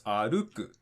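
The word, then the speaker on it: 歩く: It means that the accent drop happens after the second mora, so it's aruku, just like it says right here.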